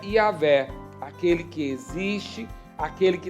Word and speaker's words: Yahweh: Senhor, que na realidade no hebraico é impronunciável, mas nós colocamos algumas vogais para podermos falar, que é Yahvé, aquele que existe, aquele que traz existência a tudo que existe.